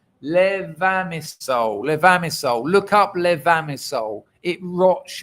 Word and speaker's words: Levamisole: But with this levasimol in it, let me get the pronunciation right. Levamisole.